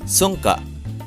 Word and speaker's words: Sunka: pronounced sunka it is a philippine manancala game that is